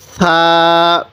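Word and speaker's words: ثاء: এই হরফটির নাম কি ছা এই ছা টা নরম করে উচ্চারণ করব ছা টা কিভাবে উচ্চারণ করব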